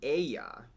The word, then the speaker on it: Aijā: All right, so the 4th contestant for this semifinal is Sudden Lights with their song Aijā. That's how you pronounce it.